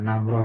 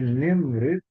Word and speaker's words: نمرة: Adik, adik, nemreh, nemrit, bukan namroh ya, tapi nemrit, telefoni, itfaddal, maksudnya itfaddal.